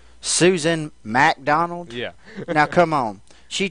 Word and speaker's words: MacDonald: Susan MacDonald. Yeah. Now come on. She changed her name. It was McDonald without the first A, but because it rhymes with rack, she made it MacDonald.